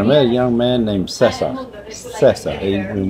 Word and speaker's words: Cesar: And so I met a young man named Cesar. And when you look at the way it's spelled, it looks like Caesar, but he's Ecuadorian, is pronounced Cesar.